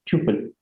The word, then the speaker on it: tuple: So next, after list, we are going to study something called as a tuple. Now, some pronounce it, this is T-U-P-L-E, some pronounce it as tuple, some pronounce it as a tuple.